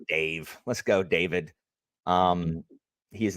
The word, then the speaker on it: Dafyd: Derval's name is spelled Derfel. So I'm like, you know what? I'm calling this guy David. And I called him David because you know what? That F is a V.